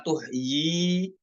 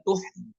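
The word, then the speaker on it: تُحْيِ: pada kata tuhyi apakah tuhyi dengan dua harakat huruf ya ataukah tuh ya tuhi Nah cara yang benar adalah yang bacanya tuhi tuhi bukan tuhyi bukan dua harakat namun pada ee tempat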